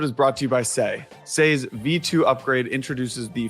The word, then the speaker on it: Sei: Sei is spelled S-E-I.